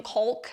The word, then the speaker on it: caulk: Always make sure to pronounce the L in caulk.